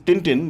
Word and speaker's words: Tintin: toy to no tin his Tintin is pronounced they speak French so Toto sham it's